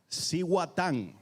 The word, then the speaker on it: Cihuatán: Hey, how do you pronounce the name of this rum? Cihuatán.